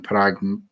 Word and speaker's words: Parag: Andrew Kavanagh, Parag Mathe, I think is how you say it.